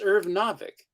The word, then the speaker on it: Irv Novick: I was always saying Novik. Novick. I Irv know, but Novick. it could be pronounced Novik. It's Irv Novick.